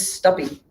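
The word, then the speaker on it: Stuppy: rob kessler and wolfgang's stubby uh anybody named wolfgang with a last name that rhymes with puppy is all right so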